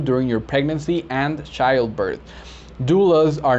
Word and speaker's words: doula: a new term and that new term is pronounced doula d-o-u-l-a and the spanish translation for that is